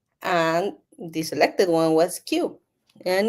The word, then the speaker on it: Kiu: when you pronounce it it sounds like a little bit a little bit like Q like it's so cute so that's why the